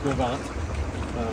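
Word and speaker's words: Gros Ventre: Grovance, if you see the sign probably up on the road, it looks like Gros Ventura. But it's pronounced Grovance.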